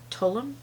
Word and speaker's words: Tulum: This is in the shade Tulum.